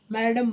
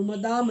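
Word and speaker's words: madame: ಬೇಕಾದ್ರೆ ನನ್ನನ್ನ ಬಹುವಚನದಲ್ಲೇ ಮಾತಾಡಿಸು ಮ್ಯಾಡಂ ಅನ್ನು ಮದಾಮ ಅನ್ನು ಅದು ಸರಿಯಾದ ಉಚ್ಚರ ಉಚ್ಚಾರ ನಾನು ಏಕವಚನದಲ್ಲೇ ಮಾತಾಡಿಸೋಳು ಪ್ಯಾರಿಸ್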